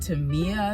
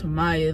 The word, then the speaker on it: Tamia: The announcer did say her name wrong. They said Tamia, I think. It's Tamaya though, so yeah.